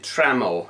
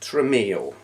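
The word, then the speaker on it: Tramiel: that have happened Jack I'm going to pronounce it traml it might be TRL I do know it's not tril died last week last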